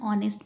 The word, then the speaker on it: honest: Like an eye, an honest person, an honorable man. Even if it starts from H, it is pronounced as O.